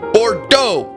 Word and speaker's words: Bordeaux: They have so many silent letters. Like, Bordeaux is E-A-U-X. Has an E-A-U-X. They can just handle it with an O. Bordeaux with an O.